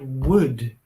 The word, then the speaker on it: would: this word would here. Would, spelled W-O-U-L-D, has two pronunciation forms. One, would, short, weak form, would. And two, a strong form, would, where we really pronounce the whole word.